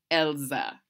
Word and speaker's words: Elsa: They say it like this, Elsa.